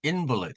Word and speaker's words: invalid: 형사라 쓰여지지 않았죠 형사로 만약에 쓰여졌다면 invalid 이렇게 읽어야 되는데 여기서는 자라는 뜻으로 invid 이렇게 명사가 됨으로 인해서 이렇게 발음이 바뀌었습니다 그리고이 강세도 스트레스도 앞으로 이동이 됐죠 형사일 경우 명사일 경우는